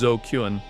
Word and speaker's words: ZQN: supposed military designation, but in Japanese slang, zqn, pronounced zokuan, comes from a phonetic joke on the word dookun, which is an insult used to call someone an idiot or a delinquent, replacing the d with the z of zombie.